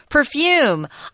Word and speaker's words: perfume: that we're looking at Perfume uh perfume can be perfume where the accent is on the first syllable or the last because I'm more French